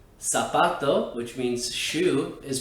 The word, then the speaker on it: zapato: for english speakers because it's actually always pronounced just like the letter s it's not za zeta that's why words like sapato which means shu is pronounced like that salfato and not zapato the word gasar which